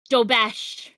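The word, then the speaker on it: Dobeš: Dobes. Hear an accent there? I don't know how to pronounce it. Dobish. Dobesh.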